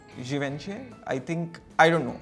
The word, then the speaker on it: Givenchy: So basically, we've been able to correctly guess the logo, but the pronunciation was wrong. We've been told it's called Givenchy.